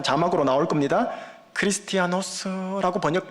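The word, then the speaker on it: Χριστιανός: 크리스티아노스라고 발음하면 맞아요. 그리스도인, 크리스티아노스.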